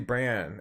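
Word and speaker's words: Brann: uh the judge matthew brand uh uh i think he pronounced it bran b-r-a-n-n b-r-a-n-n matthew bran of the united states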